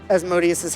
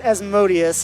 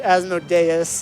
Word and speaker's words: Asodius: And yes, they pronounce it Asodius and not Asododeas. If you think that like that's how I always write it, like, oh, it's Asodus. But no, here it's Asodius.